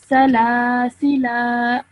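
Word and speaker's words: سلاسلا: Now, what the other way you can read it is by reintroducing the alif, the blank alif. Okay, so now this would be a alif madda because the lam before it has a fatha. So can you read this for me now? Salasila. Excellent, well done. Just make sure you only say it for 2 seconds, not too long, okay?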